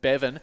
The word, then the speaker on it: Bevan: Yes, so you can spell it how you want, but it's still Bevan.